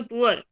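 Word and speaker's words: poor: example पुअर है ना P double O आर अपन इसको पूर बोलते हैं क्या नहीं पुअर क्यों बोलते हैं हम इसको पुअर आ तो डबल हो रहा है बट हम इसको प्रोनाउंस करते हैं तो कैसे करते हैं पू अर उ और अ दोनों की साउंड यहां पर आ रही है एस यू आर ई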